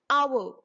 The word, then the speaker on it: hour: for example an hour in this word our H is silent and the word is starting with the sound o that's why that is